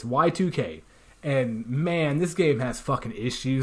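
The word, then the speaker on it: YIIK: 2k a postmodern RPG why two eyes k so yeah people mispronounce it as a long time Nick but it's y2k and man this game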